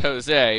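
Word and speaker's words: José: a Spanish name and in Spanish it'd be pronounced Jose but due to the lack of an accent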